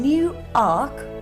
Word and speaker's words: Newark: we have here it's situated six miles from new Ark on Trent did someone say Newark some pedantic